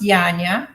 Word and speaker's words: Janina: pronounce your name because it's spelled like Janina but it's not it's it's pronounced yanya y-a-n-y-a yeah beautiful and I get Janina all the time so